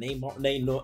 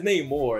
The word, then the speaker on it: Namor: Is it Neymar? I'm thinking Neymar. The soccer player? I'm thinking of Neymar every time I say his name. It's Namor. It's got to be Namor.